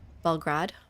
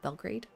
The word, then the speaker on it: Belgrade: We got Belgrade here. This could help with our happiness, too. Belgrad, right? Belgrad, not Belgrade.